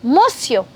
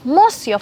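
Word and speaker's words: monsieur: good morning mister then you would say bonjour mosio yes mosio for the spellings you can have a look at the screen mosio very good and if it's a girl and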